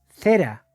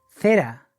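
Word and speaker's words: זרע: Y la palabra simiente en el hebreo se pronuncia cera.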